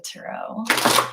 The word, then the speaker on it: tarot: get back to the tarot tarot tarot parrot I love it when people pronounce the tea that's my favorite one